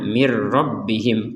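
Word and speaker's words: من ربهم: Kalau kita menggabungkan nun sukunnya kepada ro, maka nun sukunnya dimasukkan kepada huruf ro sehingga tidak dibaca min lagi, tapi berganti pembacaannya dengan mir. Sekali lagi, mir dibaca dengan mirrabbihim. Karena apa? Nun sukunnya sudah dimasukkan kepada huruf ro sehingga nun sukunnya tidak terbaca dengan jelas lagi.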